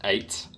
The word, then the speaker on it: Acht: I believe they called, I think it's pronounced 8. It's just another play on words. You know, you play as Agent 8, but then there's another character called 8, A-C-H-T. Well, Acht is German for 8, so maybe...